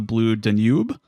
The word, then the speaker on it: Blue Danube: I believe it's pronounced the Blue Danube. Okay. It's like the river.